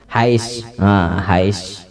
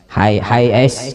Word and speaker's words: Hiace: Inopanya segala macam nang motor napa nang kayak nang genal napa Hiace tulisannya apa bacanya tak Hais Hais kayak itu kah ya Hiace.